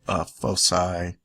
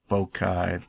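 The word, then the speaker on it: foci: distance between the fosy some people pronounce this fosi folai so you could say the hard C soft SE whatever you want I've heard it said all the different way okay so the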